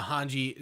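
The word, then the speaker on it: Hange: yeah naked but uh hanji so in in the they they say her name is hanji not hajj okay in the in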